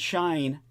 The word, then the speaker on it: Shein: And from what I can find out from their research, Halara and Shine, that's spelled SHEIN, are pausing some campaigns as they assess what the tariffs will mean for their businesses.